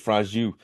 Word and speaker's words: Franju: George Franju. There you go. Good. I appreciate George you doing George Franju. that. It's Franju.